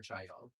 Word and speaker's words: Chaeyoung: Is it Chaeyoung Chae Young?